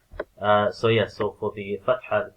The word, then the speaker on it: fathah: So yeah, so for the fathah, keep it short, yet keep it smooth as well, and not opening your mouth too wide.